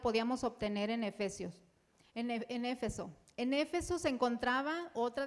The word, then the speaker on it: Éfeso: Éfeso o Efeso, ¿cómo se dice? Éfeso.